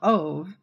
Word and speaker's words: Ove: like A Man Called Ove, which is not even pronounced like Manova or something in Swedish.